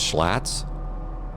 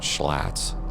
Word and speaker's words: slats: 1 plus F, so there goes our leading edge slats. Slats, not schlats. Sounds like a kind of a beer from Milwaukee.